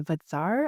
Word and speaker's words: Bazaar: Building your company Bazaar. Am I pronouncing that right?